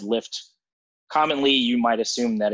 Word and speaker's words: Lyft: were unfamiliar with lyft before um their name is spelled l-y-f-t however if i just said lift commonly you might assume that it's l-i-f-t that